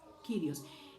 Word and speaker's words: Kyrios: Y Kyrios se escribe de la siguiente manera, es K de kilo, Y-R-I-O-S, Kyrios.